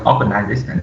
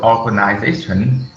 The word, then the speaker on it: organization: The word organization, there are primary stress on the fourth syllable and the secondary stress on the first syllable, or and then. The other three syllables are weak.